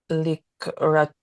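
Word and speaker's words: לקראתך: Okay, before I read through it, could you reread this one right here, noting that the stress is on the last syllable?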